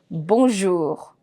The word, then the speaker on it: bonjour: Only the words that end with C, L, F, R are to be pronounced till the last word, till the last letter. For example, the previous word we did, bonjour. Bonjour, I'm pronouncing till R.